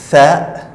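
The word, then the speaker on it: ث: La lettre suivante est tha. Tha, ça s'écrit comme ça. C'est comme le ba et le ta, mais il y a 3 points au-dessus. Tha, c'est comme le mot anglais thank you.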